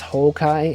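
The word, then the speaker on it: 崩壊: I do know that in Japanese it's Houkai, H-O-U-K-A-I, instead of Honkai.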